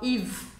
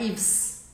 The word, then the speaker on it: Yves: Então eu falo Yves, Yves, Yves. Não é Yves, é Yves. Yves Saint, eu não vou falar o T, Saint.